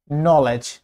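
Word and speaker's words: knowledge: Silent K এন এর আগে অথবা ওয়ার্ডের শুরুতে, যেমন knife, knife, নলেজ, নলেজ, knife, নলেজ।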